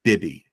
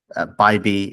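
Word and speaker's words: Bibee: Is it Bybee or Bibby? Bybee, and he's the de facto ace now that So, Shane Bieber's been shut down.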